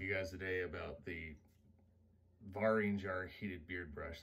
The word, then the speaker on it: Vaeringjar: guys today about the barrage are heated beard brush that's actually how you pronounce its bar ring jar it comes from a